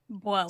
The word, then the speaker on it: Buono: Buono.